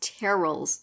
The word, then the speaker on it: Terrell: What did you think about, I keep calling him Terrell, but I now have heard it enough times, Terrell's, rhyme with Cheryl, Terrell's dance.